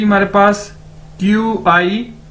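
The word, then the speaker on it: 八: Okay, उसके बाद है जी हमारे पास नेक्स्ट वर्ड, नेक्स्ट अदद, पा, बी ए पा। चाइनीज में बी को कैसे प्रोनाउंस करते हैं? पी के तौर पर, पे के तौर पर।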